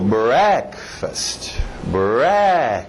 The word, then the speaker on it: breakfast: Olha o ritmo, breakfast. O fast vai morrendo, breakfast. Lunch.